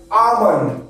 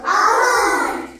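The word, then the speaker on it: almond: silent এল এই ওয়ার্ডগুলো এল আছে কিন্তু এল এর উচ্চারণ আমরা করি না ঠিক আছে ফাস্টে আসছে এল এম ও এন ডি কি হয় আমন্ড আমন্ড আমন্ড এ এল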